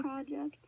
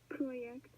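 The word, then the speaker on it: Projekt: form of project so here's the incorrect incorrect pronunciation if it looks project and then here's the correct pronunciation project so you can tell that there's a difference there between project and project you don't really pronounce Jay I also had a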